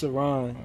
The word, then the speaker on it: Sirron: It's Sirron, you know what I'm saying?